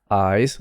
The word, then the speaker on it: eyes: properly with the voicing eyes so i that's a vowel sound the s becomes voiced into sort of a z sound you look into her